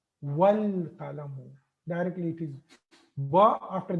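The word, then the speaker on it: وَالْقَلَمُ: The qaf is from harfu qamariya, so that's why lam is pronounced here. Wal qalamu. I'm not saying wa qalamu.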